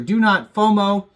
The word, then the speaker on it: DoNotFoMoew: It's like meow, but spelled with the O in front of the E, and that makes it FOMO in between there. So DoNotFoMoew, DoNotFoMoew.